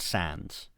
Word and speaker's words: Sandys: Because see, the problem is the Lee Perrins history just names him as Lord Sands. Now this is spelled with Sandys, so Sandys, but apparently it's pronounced Sands.